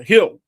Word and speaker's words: Gil: And and uh uh there was a a gentleman uh Hill, the correct pronunciation in Spanish is Gil, but but everybody says Gil, of course.